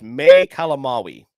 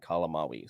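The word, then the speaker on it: May Calamawy: Yes, and also I'm glad we brought up Layla because it is May Kalamawi is how you pronounce her name, Kalamawi.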